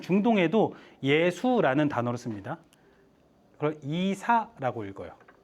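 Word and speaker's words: عيسى: 그걸 이사라고 읽어요. 이사 간다 할 때 그 이사.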